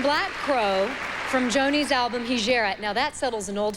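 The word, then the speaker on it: Hejira: Crow from Joni's album hijirat now that settles an old family score it's hegera for sure that's how you pronounce it please welcome once again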